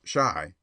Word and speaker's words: Chi: boy and printer boow Chi pronounced Shai by the way is the argot for Chicago a favorite device of